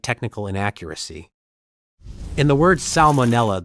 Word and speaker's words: salmonella: In the word salmonella, the first letter L is pronounced despite many English speakers tending to soften or skip it in casual speech.